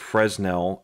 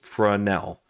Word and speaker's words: Fresnel: DIY my carry toolkit it's a French word so it's not pronounced fresnel it's pronounced fresnel so thank you trains